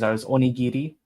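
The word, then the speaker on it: onigiri: Oniri. It's pronounced Oh, I I failed to mute. Sorry. Um, oniri. It sounds like a D.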